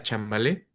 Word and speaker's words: Chambalé: proyecto de música tradicional que se llama Chambalé. Así nos pueden encontrar en nuestras redes sociales con acento en la E.